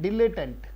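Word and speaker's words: dilettante: क्या उच्चारण है? डिलेटेंट, डिलेटेंट, ढीले टेंट ऐसे याद नहीं करना है कहीं ढीले टेंट को, इस डिलेटेंट, डिलेटेंट इसका मतलब शौकिया।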